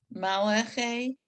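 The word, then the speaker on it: מַלְאָךְ: And just don't forget, it's mal ache. Malach. Mal ache. We want to make sure that we don't have the under the ul sound.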